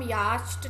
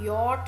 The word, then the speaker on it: yacht: YACHT, बट इसको हम यास्ट नहीं बोलते, हम यॉट बोलते हैं।